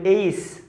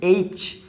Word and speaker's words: H: আসলে এটা এইস নয়, এটা হচ্ছে এইচ। সো এখানে চ হচ্ছে, তাহলে কি হচ্ছে এইচ, এইচ। সো এটার উচ্চারণ হচ্ছে কি তাহলে এইচ।